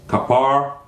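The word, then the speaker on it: Capernaum: he came to kaer the correct pronunciation of that is kapar there was a prophet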